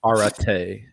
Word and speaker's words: Arete: It's pronounced R, like the letter R. Okay. Arete.